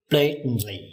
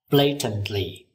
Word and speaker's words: blatantly: Trang từ blatantly. Một cách ngang nhiên, trắng trợn. Các bạn lưu ý, người Anh phát âm từ này là blatantly. Nhưng người Mỹ phát âm là blatantly.